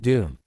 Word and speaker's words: DoM: By the way, we pronounce it Doom.